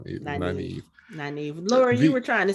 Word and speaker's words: Nynaeve: She said your name wrong. Nynaeve.